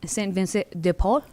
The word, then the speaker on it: Saint Vincent de Paul: It's pronounced Saint Vincent de Paul.